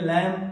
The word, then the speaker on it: lamb: LAMB क्या बोलेंगे? लैम।